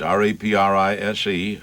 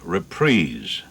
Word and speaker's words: reprise: Now, our word for the day is reprise, R-E-P-R-I-S-E, reprise. One might think it was reprise.